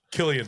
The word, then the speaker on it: Cillian: I always see the C, and it's always Cillian in my mind. I said Cillian in the beginning, and you guys corrected me.